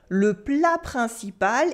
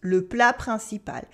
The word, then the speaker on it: le plat principal: Le plat principal is the main course. Le plat principal. We have a silent T in plat, a nasal sound in principal, remember, le plat principal.